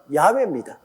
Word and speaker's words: 야훼: 이러니 여러분 아버지 이름도 하나 똑똑히 발음 못하면, 그래서 제가 여호와라고 이름을 적어도 꼭 야훼라고 불러라고 하는 이유가 우리 아버지 성함의 정확한 발음은 야훼입니다.